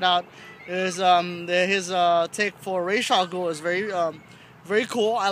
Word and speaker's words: Ra's al Ghul: Mispronunciation of Ra's al Ghul, not Raz al Ghul.